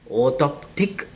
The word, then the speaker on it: orthoptic: Correct pronunciation is orthoptic assessment.